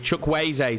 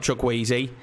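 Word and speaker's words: Chukwueze: now he needs options i'm probably still saying his name wrong it's chuck wayze i believe chuck wayzay sorry not chuckweezy i'll get there in the end boys i really will i think it's chuck wayzay oh they're in behind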